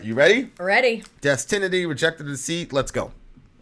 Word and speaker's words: Destinity: It's called, I want to say Destiny, but it looks like Destinity.